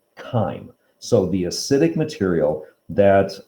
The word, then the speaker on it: chyme: material is spelled as c-h-y-m-e but that c-h is pronounced like a k that is pronounced chyme it's like time with a k chyme so the acidic material